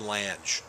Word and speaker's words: Lange: Lange, Ted Lange, not Lang.